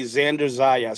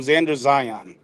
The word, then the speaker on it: Xander Zayas: I'm glad that you worked through your issues and you're able to say Xander Zayas, because you used to call him Xander Zion.